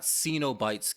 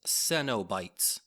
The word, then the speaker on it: Cenobites: It's not Cenobites, Caitlyn. I blame this all on you. It's Cenobites.